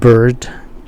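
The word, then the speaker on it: Byrd: es que el senador Bird que er un los controladores de Kathy br se escribía con Y en lugar de bd que es la palabra Bird para pájaro pero ambros se pronuncian Exactamente igual Entonces si alguien está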